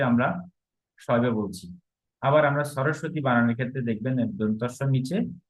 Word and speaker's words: সরস্বতী: প্রথম দন্তের সাথে বয় হচ্ছে না, পরে দন্তের সাথে ব হচ্ছে।